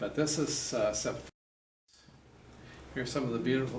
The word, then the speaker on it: Sepphoris: No, not the same as Sophet, but it's Sepphoris. Sepphoris. Sometimes you see it spelled with two P's and a P followed by a PH.